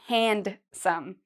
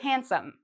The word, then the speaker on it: handsome: I know you see the word here, hand, but we don't say handsome. We say handsome. So it's as if this D isn't there.